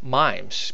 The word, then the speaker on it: MIME: And then MIMES, because every file on your computer has what's called a MIME type. Am I pronouncing that right? M-I-M-E, MIME.